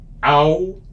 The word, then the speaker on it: alcançar: Alcançar. Alcançar. That means to reach something. And remember that this C here is with the sigilla C. So it makes it more like an S sound.